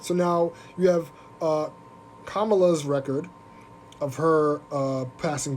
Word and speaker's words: Kamala: okay thank you thank you for the correction kamala harris i know i was saying it right and i said it wrong yikes kamala harris yes so i don't i'm not a